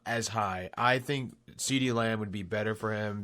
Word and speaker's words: CeeDee Lamb: His name rhymes with Meaty Bam. Meaty Bam. Yeah. CeeDee Lamb.